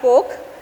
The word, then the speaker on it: Koch: for a company called Coke and not the beverage company the K pronounced as Coke um Business Solutions so